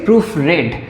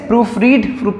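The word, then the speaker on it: proofread: প্রবন্ধ মানে এসে তো আই হ্যাড দা এসে প্রুফ রেড এটার উচ্চারণটা আমরা রিড করবো না রেড করবো কারণ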